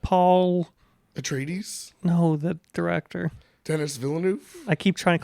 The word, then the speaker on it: Villeneuve: Denis Villeneuve?